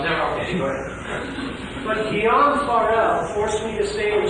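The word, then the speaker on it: Guillaume Farel: Guillaume Farrell. I can only regard it as well, but I got Guillaume Farrell. Saving me from the jaws. Well, never. Okay, go ahead. But Guillaume Farrell forced me to stay in Geneva, not so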